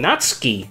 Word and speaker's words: Natsuki: Natsuki. That's how you're supposed to pronounce it, but it doesn't matter.